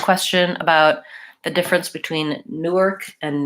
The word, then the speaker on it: Newark: or just an ER Newark Newark where that vowel is really reduced so we don't have much of an ass on there Newark and New York I